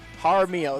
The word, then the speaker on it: Jaramillo: Okay, Jaramillo. That's how we pronounce that name.